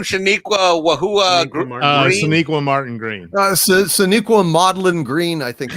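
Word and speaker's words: Sonequa Martin-Green: Shaniqua Martin Green. Shaniqua Maudlin Green, I think it was. But is that wrong? Did I say it wrong? It's more accurate. Shaniqua Maudlin Green.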